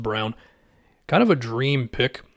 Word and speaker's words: Braun: his last name looks like Braun but it's pronounced Brown kind of a dream pick if you're Denver